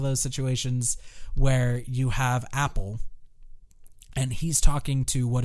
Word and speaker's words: Apol: Apple, and Apple is spelled APOL.